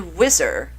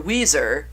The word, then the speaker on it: Weezer: when it came to whizzer or Weezer however you want to pronounce it it was hard